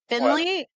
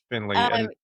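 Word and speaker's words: Findlay: Is it Finley? I don't even know that. It's Finley. Yep. Yep. Um Finley.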